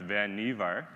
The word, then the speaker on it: Vannevar: And if you've heard the name before and you're talking about Vannevar Bush, and you hear someone saying that, you can say, well, actually, it's pronounced Vannevar.